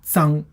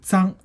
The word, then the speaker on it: 脏: Now this character has another pronunciation called pronunciation 脏. So when you say 脏, that carries a complete different meaning, which means dirty, filthy, okay, smudged, bad, smear, stain, defile.